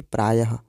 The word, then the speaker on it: प्रायः: ऐसे ही प्राय शब्द में जो यह चिन्ह लगा हुआ है इसको हम विसर्ग कहेंगे, इसका उच्चारण भी आधे ह की तरह होगा जैसे कि प्रायः।